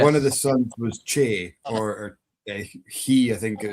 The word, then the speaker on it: Ce: It's about the North Pictish kings, and one of the sons was Che or Chi. It's spelled CE, and it's where we get the name for the hill Benahi.